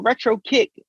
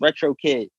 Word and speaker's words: Retro Kiq: even even when performing oh retro kick i have to get on the microphone yeah it's retro kid drop drop wait flip